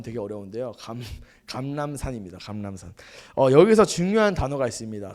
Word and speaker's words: 감람산: 감람산, 이 발음 되게 어려운데요. 감람산입니다.